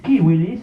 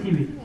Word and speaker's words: civilis: Porque la C para los latinos, para los romanos se pronunciaba como K de kilo.